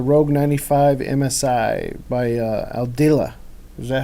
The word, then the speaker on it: Aldila: year it's a rogue 95 MSI by uh aldila is that how you pronounce it yeah so that it's for TaylorMade